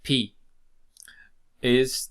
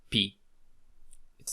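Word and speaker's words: π: So this is the equivalent of P. It's then pronounced as pa, pe, pi, po, pu.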